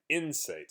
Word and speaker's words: insight: is insight everybody say insight so stress is on the first syllable and it's like if you look at it as the word site and it's site is